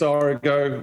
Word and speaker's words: Origo: Now I pronounce it Origo. Is that wrong? Is it Origo? It's Origo.